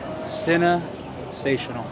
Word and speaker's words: CineSational: CineSational. Sensational? Sensational. Sensational? Sensational? Sensational. Sensational. CineSational. Yeah. CineSational. That's how they say it.